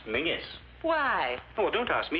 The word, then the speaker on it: Menzies: And Menzies is pronounced Mingus.